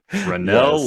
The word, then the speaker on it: Fresnel: for bringing that up rennel lenses fresnel is how it's spelled just mention though because